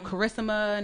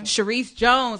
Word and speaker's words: Sharice Jones: It wasn't no Carissima, no Sharisa, no Karis. It was like Sharice Jones, like the full government joint.